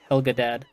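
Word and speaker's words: Helgedad: I think I'm pretty sure it's pronounced Helgadad. Helga's dad, though, yes.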